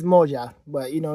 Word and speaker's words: Moja: Oh, let's find out how to pronounce this. Hold on. All right. Yeah. So I said it right. It's Moja.